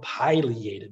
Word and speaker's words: pileated: that affiliated woodpecker made you may have heard others call them pileated woodpeckers either pronunciation is correct i just prefer pileated the yellow belly sapsucker